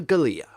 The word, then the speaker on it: Galia: who she is Maria Galia Maria Galia her last name rhymes with her first name she took care of